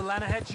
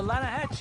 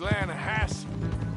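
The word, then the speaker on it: Lannahechee: rode down to the Lana Hetchy River I caught some beautiful steelhead trout you mean the Lana no no the lana hatch it runs right near here yeah for this pronounced Lana Hass why is everything in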